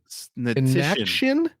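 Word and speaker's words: Hnatyshyn: Ray Natition? I think it's Natition. Ray Natition. Ray Natition? It's spelled Hnatysshyn.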